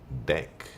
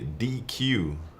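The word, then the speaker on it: deque: like it should be DQ and I think for sure when I first read it I was like yeah the DQ but everywhere I looked people just pronounce it deck so I just switched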